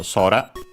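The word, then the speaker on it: 空: Actually, it should be accented on the first syllable, I think, so sora. We'll check, but its meaning is sky, the air, yes, it's accented on the first syllable, so sora.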